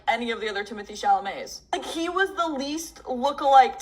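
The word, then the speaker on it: Timothée Chalamet: These Timothee Chalamets.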